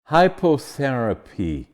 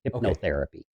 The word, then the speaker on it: hypnotherapy: mean this with respect it's pronounced Hypno hyp as in hypnosis hypnotherapy so hypnotherapy is the clinical